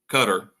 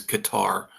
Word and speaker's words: Qatar: Well, now the honest, true number has come out from Qatar. And I hate saying it. I know that's the right way to pronounce it, but it's always Qatar to me.